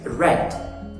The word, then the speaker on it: read: verb to read States with the same spelling but with some change within the pronunciation it's it remains read say yesterday I read